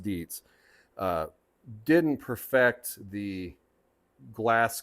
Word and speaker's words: Dietz: think that uh Deets which I know I mispronounced at the beginning of video I believe it's pronounced Deets uh didn't perfect the